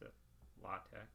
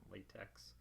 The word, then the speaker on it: LaTeX: lambda alpha tau epsilon chi that's why we pronounce a lotta rather than latex you can always tell a rookie if you hear someone refer to type setting things in latex it's not to paint that we're talking about